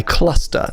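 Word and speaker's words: Qluster: It's a track called Tron Fleen uh by Cluster. That's spelled Q L U S T E R.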